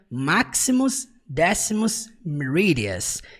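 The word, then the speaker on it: Maximus Decimus Meridius: Você percebe que em inglês ele pronuncia máximus décimos meridias.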